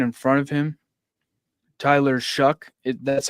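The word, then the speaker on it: Shough: Uh, the quarterback's taken in front of him, Tyler Shuck. It that's how you pronounce his name.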